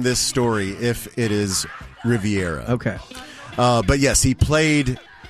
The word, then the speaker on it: Riviera: So he had played pickleball at the very exclusive Rivera Country Club. Riviera. Huh. It's spelled Rivera here. It's Riviera, right?